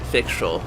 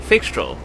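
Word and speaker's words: Fyxestroll: Fixtrol. That's how you say this place's name. Fixtrol.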